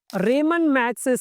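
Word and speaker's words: Ramon Magsaysay: रेमन मैक्ससेस से award काफी लोग इसको रमन मैक्सेस अवार्ड भी कहते हैं। लेकिन हम इसको यहां पर रेमन मैक्सेस अवार्ड प्रोनाउंस करेंगे। ओके? तो प्रोनाउंसिएशन थोड़ा सा डिफरेंट हो सकता है। बट रमन मैक्ससे अवार्ड या रेमन मैक्से award both are correct.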